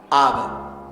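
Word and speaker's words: אב: Quiere decir padre en hebreo, diga Ab.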